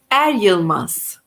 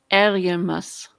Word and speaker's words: Eryılmaz: touch with begum bingham how do you say your last name adiomas eriamas yes so you can reach